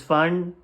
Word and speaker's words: Pfand: see it's written ing fund 0.25 uh this fund p is silent here and uh this 0.25 cents means